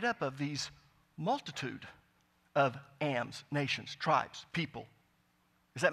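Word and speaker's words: עם: actually do the hebrew for you but it's pronounced am and it's written plural and it means people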